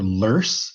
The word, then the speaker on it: loess: This stuff called loess, or lurse is how that's pronounced, is the name for unstratified sediment deposited by wind.